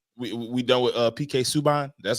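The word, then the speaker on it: Subban: right we um we done with uh PK suban that's how you say his name yeah I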